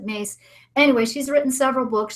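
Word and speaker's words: Myss: you know Carolyn and it's mys I think or something is how you spell her name but I think she pronounces it mace anyway she's written several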